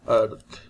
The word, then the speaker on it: earth: difficulty here is earth we call it earth but r is silent you can see here